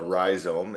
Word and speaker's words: Rhizome: Is it Rhizome? Is that how you say it? That's correct. So the business entity is called Rhizome.